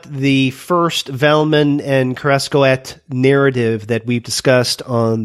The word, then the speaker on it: Kerascoët: And is that how you pronounce it? Yes. Kerascoët.